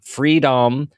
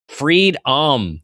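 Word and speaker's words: Freed-om: Freedohm is f r e e d. That is face last name and then {dash} ohm, o m.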